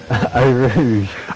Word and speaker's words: Eau Rouge: How do you pronounce it again? Eau Rouge. Eau Rouge.